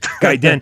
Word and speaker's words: Gaiden: because you were like gaiden it is guidance guy and jesus i think that sounds so pretentious guy den is like the uh it means like side story in in in japan right